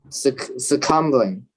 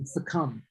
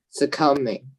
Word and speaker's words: succumb: Succumbling succumbing. You don't you don't really pronounce the B. The B is silent. You say succumb. Succumbing.